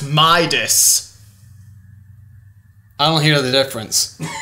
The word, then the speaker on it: Midas: to Gold a regular King minus Tater it's pronounced Midas I don't hear the difference foreign that concludes